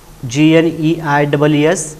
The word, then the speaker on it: gneiss: Here once again I will tell you that the spelling is different and pronunciation is different of that word. GNEISS is the spelling, but we pronounce that as gneiss.